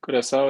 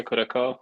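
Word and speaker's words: Curaçao: I can't pronounce that name. Curacao, yeah, Curacao.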